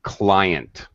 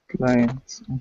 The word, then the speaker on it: client: And pronunciation, client. Clients. Yes, there's a long I.